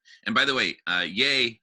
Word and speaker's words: Ye: by the way uh yay his name is pronounced yay like yay um thank you along